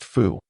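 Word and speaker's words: 福: This character is pronounced fu.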